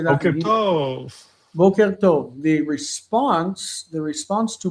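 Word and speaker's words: בוקר טוב: Boker tov.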